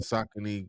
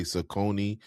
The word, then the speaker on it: Saucony: Are you saying Sakin like how people would say Sakonei, but you're saying it the the the way that they just recently say to say it? I mean, I'm saying it the correct way.